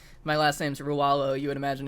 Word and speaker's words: Ruvlo: Lowe even it's like and people pronounce the name wrong all the time because like my last name's rawalo you would imagine it's ruvlo right and like someone is what I still